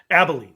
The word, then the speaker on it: Abilene: lot of el albaleen abilene pronounced abilene abilene abilene texas yeah um he was